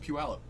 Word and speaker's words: Puyallup: up there oh my it's pronounced Puyallup Puyallup ql Puyallup ql which is weird but oh well since